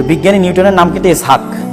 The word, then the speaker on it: ইসহাক: বিজ্ঞানী নিউটনের নাম কিন্তু ইসহাক কিন্তু উচ্চারণ করা হয় ইংরেজিতে কি আইজ্যাক কিন্তু আসলে কি ইসহাক ইসহাকের ইংরেজি ভার্সন হচ্ছে আইজ্যাক তার বাবার নাম হচ্ছে